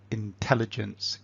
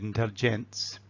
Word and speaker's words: intelligence: good and clear, and we pronounce a word like intelligence correctly. 'Intelligence.' Well then someone who's listening will decode that quite quickly. They will have no problem in recognising the sound. But if for example I said 'intelliGENTS,' 'intelliGENTS' someone listening to me might think I'm talking 'ladies and gents,' not 'ladies and gents' but 'gents' so 'intelliGENTS.'